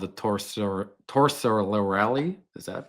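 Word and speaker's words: Torsilieri: It's called the Torsorelli. Is that pronounced? Torcellieri. Torcellieri.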